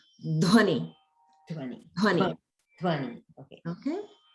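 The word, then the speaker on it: ध्वनि: And notice the dha, dha plus va in dhvani. So that's a mahaprana, the dha. So that's something that you can practice to pronounce as dhvani.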